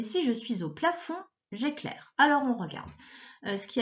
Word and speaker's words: j'éclaire: Alors, on avait le J apostrophe, c'est pas je éclaire, hein, c'est j'éclaire, et qui s'écrit E accent aigu, C-L-A-I-R-E. J'éclaire. Ma première question, eh bien, elle est très facile, ça va être celle-là.